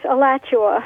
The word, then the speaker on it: Alachua: And Terry in Alachua, Florida. Am I saying it right, Terry? Close. Alachua. Alachua.